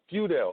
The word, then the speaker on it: Feudale: close eye it was close so so it's few doubt whew Dale okay that's perfect perfect do not get on